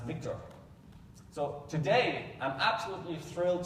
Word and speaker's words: VCTR: which is the data GD vctr pronounced Victor so today I'm absolutely